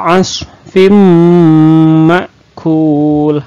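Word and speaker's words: عَصْفٍ مَّأْكُولٍ: anak-anak idgham billaghunnah jadi Bunyi tanwinnya atau bunyi huruf n-nya itu hilang dimasukkan ke huruf Mim Hai nah dimasukkan ke huruf minimnya Hai saya lagi kita baca fajaalahum kaos firmware wuwul sekali lagi Fajar aneh Unka asfim ma' kuul nah selain dimasukkan ke bunyi mim ke bunyi m nah juga harus didengungkan dan ditahan karena ini disebut dengan lagu Naff Idgham Bighunnah nah seperti itu ya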